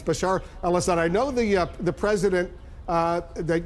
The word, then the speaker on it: Bashar al-Assad: Bashar al-Assad, I know you've mispronounced his name a few times, but it's Bashar al-Assad.